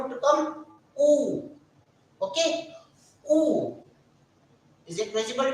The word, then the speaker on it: U: This letter is pronounced as oo. This U is pronounced as oo. Oo.